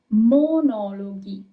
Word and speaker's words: monologhi: the English word, and in Italian it's monologhi. Monologhi. Okay? So you can have G-I-G-I-H-E. It doesn't matter. The sound is always going to be G of G-H. It's never going to be J.